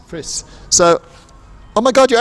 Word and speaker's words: Friis: Renwick sander doing a virtual interview of fries how do you say your last name Fritz Fritz so oh my god you're actually here I